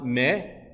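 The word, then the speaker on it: 目: Now in Japanese, the eyes or eye is pronounced me, and to pop out, you can say deta, mega deta, okay?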